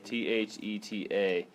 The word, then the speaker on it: theta: it the Theta okay this is how you spell Theta guys so you guys get used to it t h e t a that's how you say it Theta okay theta equals what's